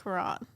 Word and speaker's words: Quran: does hamash read the Quran am I right with that at least the label of the Quan it's purple they don't need to read it I also think it's pronounced Kuran I know okay uh